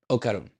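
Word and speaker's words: Okarun: down different o ok so okon o okaron okaron yeah okar okaron okay okay so she meets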